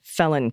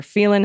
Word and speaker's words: Phelan: People in town would argue about the pronunciation. A local joke was that the reason the high school was named Serrano, neither Phelan High or Phelan High would have had a great impression. P.S. I call it Phelan, since that was how our titular senator pronounces it.